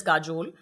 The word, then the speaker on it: काजोल: द वे काजोल ही आपका नाम था या काजल था इसलिए बंगाली में काजोल हो गया नहीं